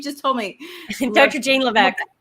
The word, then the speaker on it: Levesque: Jane Levesque. Levesque, that's right. No, the S is silent.